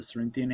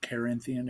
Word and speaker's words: Cerinthian: uses them to combat the Cerinthian heresy or Carinthian heresy, depending on how you pronounce it.